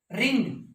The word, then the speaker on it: wrong: या WRI, RIGHT अलग चीज है, यहाँ W साइलेंट, राइट। रेथ, गुस्सा, WRATH, रेथ। रिंग, रोंग, WRONG, और रैप मैंने लपेटना, ठीक है, WRAP, रैप।